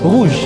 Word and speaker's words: rouge: Bacanya Rouge. ini kayak J, jadi cara bacanya itu R-nya harus ya Eh.